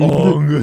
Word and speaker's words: Aang: It's pronounced Ong. Ong, yeah.